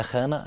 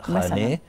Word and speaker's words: خانه: بالمعنى المتواتر ا وخانه احنا بنقولها بالعميه خانه لكن هي كلمه فارسيه تركيه نطقها صحيح خاني يعني منزل او دار